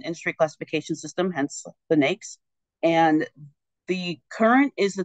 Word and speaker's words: NAICS: I mentioned those numbers earlier in the patents NES codes um it's n AIC CS but we pronounce it NES and they are the the